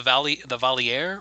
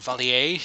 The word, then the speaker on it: Valier: So, and also the Valier or Valier, if we're French, are the queens of the Valar.